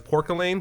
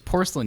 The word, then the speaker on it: porcelain: youth I used to know as pork Elaine because I did not know what porcelain how to say the word force and then Brandon met met a child version of honey and I was like it's porcelain you it